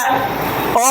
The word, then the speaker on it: a: इट से mango yes ए पढ़ लीजिए इसको या अ पढ़ लीजिए उच्चारण इसका ए भी बोला जाता है और भी बोला जाता